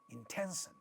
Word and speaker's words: intention: In the next word, intention, you have a word with three syllables. This syllable is stressed and a voiceless stop is at the initial position of this syllable, therefore it is getting aspirated. So the way it sounds is intention, intention.